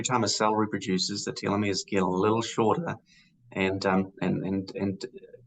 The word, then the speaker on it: telomeres: Uh, we've talked about telomeres, and I think I'm pronouncing them right.